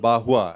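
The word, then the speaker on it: Barrois: is a gentleman called bahua I mean it's a French name it's b-a-r-r-o-i-s pronounced who spoke about the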